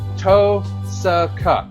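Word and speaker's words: Tohsaka: toos to it's to TOA you almost basically could ignore the H then pronounce it to TOA TOA yeah toaa okay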